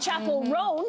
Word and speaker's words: Chappell Roan: Kamala Harris is, and Chappell Roan, am I saying that correctly? That's right.